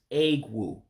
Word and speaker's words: egwu: And that last word is egwu. Egwu. Remember, the E makes an A sound.